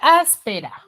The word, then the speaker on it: áspera: contigo la siguiente palabra áspera tiene tres sílabas la palabra tres sílabas la palabra tónica es as y es esdrújula Por qué es esdrújula porque la palabra tónica recae en la antepenúltima en la antepenúltima bien